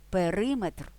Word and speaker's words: периметр: три голки чотири копійки в іменниках одиницях вимірювання наголос падає на метр дециметр кілометр але периметр це не одиниця вимірювання у складних іменниках із